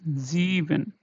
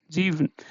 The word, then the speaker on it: sieben: Okay, so here again it is in the beginning, and this is pronounced as Z.